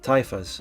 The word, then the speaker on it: taifa: It's Caliphate Lords of Cordoba collapse, dividing into taifas. I don't know. I've got in the chat Thai fast is how the pronunciation is. Okay. Taifa.